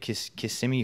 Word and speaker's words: Kissimmee: So a few months before that, I was lucky enough to have a match against him in NXT at Kissimmee, Florida.